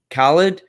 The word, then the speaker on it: Khaled: order so don't worry about that um dj khaled how do you pronounce that word okay yeah khalid x air jordan three grateful now who is